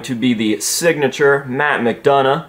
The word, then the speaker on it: McDonough: the signature matt mcdonough i'm finally saying it right even though it makes no sense at all to say mcdonough when it's spelled like this that's mcdonald if i've ever seen it in my life but regardless here we have